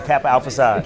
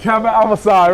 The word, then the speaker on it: Kappa Alpha Psi: Kappa Alpha side. Kappa Alpha side, right.